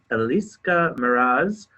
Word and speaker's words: Elis Mraz: I'm here with Elis Mraz.